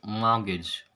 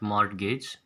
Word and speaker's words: mortgage: uh first of all mortgage is like t is silent okay so you have to spell it like uh sorry you have to pronounce it as mortgage mor gag mortgage it's not mod gauge so many people pronounce